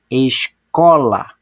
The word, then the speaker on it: escola: Que observem, ó, escola. Observaram que o cor foi falado com mais intensidade? Nesse caso, então, o có é a sílaba tônica da palavra escola.